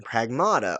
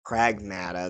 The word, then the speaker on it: Pragmata: Today, I am going to be giving my base review for the game Pragmata or Pragmata. That's the official pronunciation, but either way, I'm going to give my review for it.